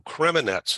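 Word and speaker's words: Kremenets: yeah yeah okay good and you relocated to creminets am I pronouncing that right yes it's just fine they'll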